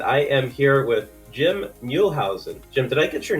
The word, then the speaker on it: Muehlhausen: snackable solutions and i am here with jim muelhausen jim did i get your name right you